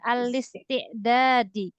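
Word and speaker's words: الاستعداد: sekali lagi alistiad alistidad ini langsung dibaca alistiadi ya Jadi hamzahnya ini dihilangkan di dalam bahasa Arab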